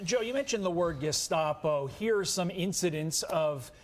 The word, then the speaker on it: Gestapo: Still didn't even pronounce it right. It's Gestapo.